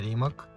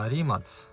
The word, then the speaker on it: Rimac: Не Рімок, а Rimats. Ось. А чого? Тому що так правильно вимовляти цієї фірми з Хорватії.